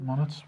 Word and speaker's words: Moniz: Moniz. Is that how you pronounce it? Moniz?